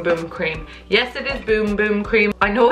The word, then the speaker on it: Bum Bum: cream yes it is boom boom cream pie no it's spelled bum bum but it's boom boom okay in Portuguese it is boom boom so that's how we